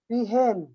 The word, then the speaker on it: peahen: पीहेन, PEAHEN, है ना। Sir side प्लीज। सर उसका प्रोनाउंसिएशन क्या होगा पीकॉक के बाद जो लिखा है?